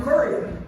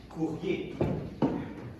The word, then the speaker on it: courier: Why, you must be our new courier. Yeah, actually it's pronounced courrier. COVID. No, courrier.